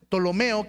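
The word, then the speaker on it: Ptolomeo: El tercero es Tolomeo, que se escribe P. Tolomeo se posicionó de Egipto,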